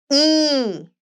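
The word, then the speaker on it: ㅣ: one last basic vowel e e e this is e the mouth and teeth must both be slight open and we write again from to bottom to bottom yes e e e e e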